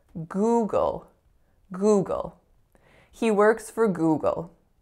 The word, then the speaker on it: Google: of the time so I often don't hear that ooh vowel on the first syllable and the dark L I mean that's a little bit nuanced but I often don't